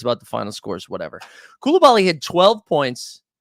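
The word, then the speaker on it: Coulibaly: I looked up the pronunciation of Koulibaly, and that is how you say it, okay? That's what the pronunciation. That's what Google told me.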